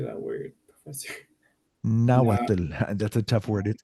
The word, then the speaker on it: Nahuatl: Nahuatl.